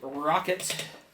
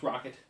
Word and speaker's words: Roccat: The Roccat. I still don't know how it's Roccat. It's in my opinion, Roccat. Roccat. And it's got a cat. See? Roccat.